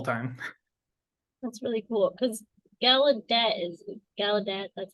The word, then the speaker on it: Gallaudet: That's really cool because Gallaudet, that's how you say it.